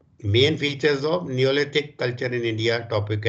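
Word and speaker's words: Neolithic: The main features, ये topic ऊपर लिख लो, the main features of नेलोथिक, sorry नेलोथिक नहीं, मैं वो मतलब रॉन्गली इसको प्रोनाउंस कर रहा हूँ, नियोलिथिक, sorry, the main features of नियोलिथिक culture in India.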